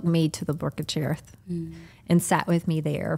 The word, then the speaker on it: Cherith: And I thought about the story of the ravens and the Brook of Cherith.